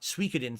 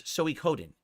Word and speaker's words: Suikoden: It's gonna be hard because I always said Sui instead of Soi. So I have to remember it's 4. It's not Suikoden 3 syllables. It's 4. It's Suikoden. I have to remember the 4 syllables.